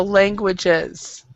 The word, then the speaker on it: languages: Okay, so remember, even though there's an S back here, you actually have to pronounce it, and we actually stress it. So languages. Languages, okay.